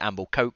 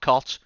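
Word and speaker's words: Amblecote: the amble coat Arena I've been told to to pronounce it amble coat cuz it's not cot it's coat uh which is or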